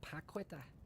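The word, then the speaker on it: Paquetá: It's between Kanate and La Puqueta. How do you say it, Urbano? La Puqueta. La Paqueta. La Paqueta.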